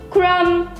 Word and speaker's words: crumb: R-U-M and no B. The B is sad. Okay, sometimes these comments make me numb. You listen to all these words. Dumb, thumb, crumb, numb.